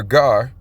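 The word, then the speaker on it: גר: H1616, gar. And I do believe that is the correct pronunciation.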